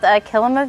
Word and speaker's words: Kilima: Yeah, it is called Kilima Village. So the root word is similar to Kilimanjaro. It kind of just helps you pronounce it there.